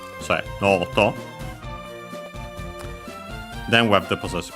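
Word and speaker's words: ノート: But yeah, here noto on its own, accent on the no. So noto.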